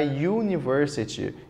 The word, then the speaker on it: university: já vimos essa palavra letra a university University Olha aí o som u então o artigo tem que ser a eliminado ele quer a